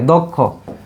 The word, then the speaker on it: দক্ষ: ক্ষীয়কে বাংলা পাওয়া যায় ক যুগ মূর্ধন্য ষ, কিন্তু উচ্চারণের সময় ক্ষীয় যদি মাঝে বা শেষে থাকে তাহলে আমরা দিব ক হসন্ত খ উকার, ঠিক আছে? ওকে, দক্ষ, দক্ষ।